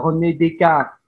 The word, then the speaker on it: Descartes: Tapi kalau Prancis ya dilafalkan Prancis. Tadi ada René Descartes. Ada René Descartes, kemudian ada Montesquieu, kemudian ada Condorcet.